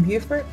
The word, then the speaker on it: Beaufort: it's such a warm day here in beaufort let's head over to southern suites on bay